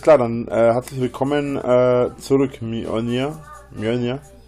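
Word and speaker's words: Mjölnir: Kommt drauf an, wie du ausgesprochen werden möchtest. Macht ja auch jeder ein bisschen anders irgendwie. Mjolnir, Mjolnir, Mjolnir. Das ist schon alles gehört. Eigentlich wird der Mjolnir ausgesprochen, aber auch Mjolnir schreibt, sagen viele.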